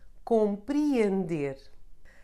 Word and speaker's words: compreender: You can find it followed by a vowel not forming a diphthong, as in real, or the first E in compreender.